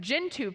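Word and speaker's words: Gentoo: recently down in Australia with um gin I'll pronounce it right gintu Penguins Spen and Magic they also hatched an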